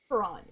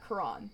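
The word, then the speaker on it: Quran: Um, so yeah, like even so like Karan. Yeah, Kuran.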